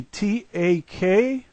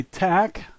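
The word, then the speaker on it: так: We see T-A-K. All of the letters are pronounced just like we would, but if an American read this word, he would say tak. The Russians say tak, and that's the only difference.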